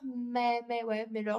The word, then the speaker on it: Meyer: Et ensuite, toujours chez Cultura, j'ai acheté mais d'occasion le roman La disparition de Stéphanie Meyer, Meyer, je le prononce à la française, de Joël Dicker aux éditions de Fallois.